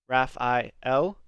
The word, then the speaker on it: Raphael: the moment very religious the way that all of these angels names are supposed to be pronounced is with el at the end so it's me l gabriel raphael and l is of